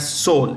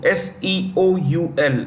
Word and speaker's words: Seoul: you see here that Seoul s-e-o-u-l the capital of South Korea Seoul the E is silent yeah so it's North